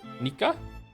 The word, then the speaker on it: Nika: If you're wondering, my name is pronounced like like Niko but with an a sound instead O. Nika.